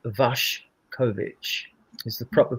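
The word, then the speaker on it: Vušković: And like then I, you know, after Vashovic actually is pronounced Vash Kovichic is the proper pronunciation.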